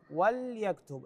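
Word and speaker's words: وَلْيَكْتُبْ: وليكتب في السطر الثاني وليكتب اللام هنا ساكنه وليس وليكتب بكسر اللام ايضا جواها في السطر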